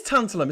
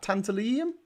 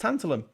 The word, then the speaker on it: tantalum: don't know tantalum tantalum but it is tantalum it's not tantalia i mean lee i can't even say that tantalium no it's just tantalum tantalum that's next to